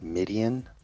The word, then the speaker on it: Midian: does everybody does uh it's pronounced Midian like the Midianites yeah Midian and uh but a lot of people so that's a Midianite Midianite is actually a biblical people.